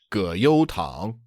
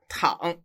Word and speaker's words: 葛优躺: Did you pronounce tǎng as the second tone? Yes. Oh, no, I'm sorry. It's the third tone. Oh, 葛优躺. Yeah, 躺.